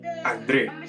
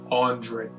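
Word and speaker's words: André: in school como así Andre. But over time I stopped putting the accent on the e because everyone, incluyendo mis maestros, would always pronounce my name as Andre, Andre, Andre.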